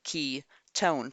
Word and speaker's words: ketone: up is a ketone which we say it like key tone but there is no Y in Ketone here we have our